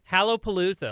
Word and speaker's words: Hallowpalooza: Hallowpalooza, like Halloween.